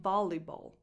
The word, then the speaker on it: volleyball: If you want to say pallavolo, you need to say volleyball, not just volley. Volleyball. And you only pronounce one L, basically, volleyball, volley, and the